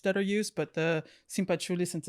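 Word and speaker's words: cempasúchil: A marigold, the simpachuli.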